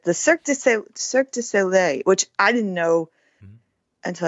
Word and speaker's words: Cirque du Soleil: Thank you for correcting my pronunciation. It's the Cirque du Soleil, which I didn't know until I read this.